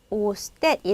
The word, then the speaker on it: ustedes: " 우스티데스 " 라고 발음 해야 합니다 .